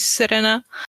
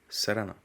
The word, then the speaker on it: Serena: yeah, that Serena is the English pronunciation, right? Serena is the Romanian one, and then you have Serena, which is kind of, I don't know if I'm pronouncing it very well, but that's close to the Dutch pronunciation of it.